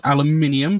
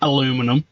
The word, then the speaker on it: aluminium: aluminium in our veins yes aluminium the proper way to say it say even swedish people know how to say aluminium probably not aluminum um in our veins